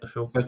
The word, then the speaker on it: Ahsoka: Is that how you pronounce it? Ashoka.